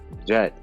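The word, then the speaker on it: Djet: called the serpent king later egyptologists pronounce his name jed now they prefer to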